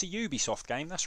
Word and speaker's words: Ubisoft: should be pronouncing it Ubisoft okay Ubisoft not Ubisoft Ubisoft that is the French the French pronunciation of Ubisoft we have confirmation we